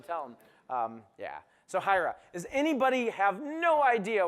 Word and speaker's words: Hiera: Um let's talk about Hyra. Uh, by the way, that is hyra. We say it like hyra. It's the first five letters of the word hierarchy.